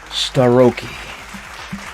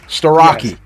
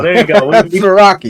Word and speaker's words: Starocci: Give it up, everybody, for Brandon Starocci. Hello, everybody. And I said it wrong anyway. Starocci. Yes. There you go. Starocci.